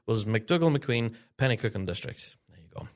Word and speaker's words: Penicuik: last week's show but it's Penicuik and District, not Penicuik. I think that's how I pronounced it last time.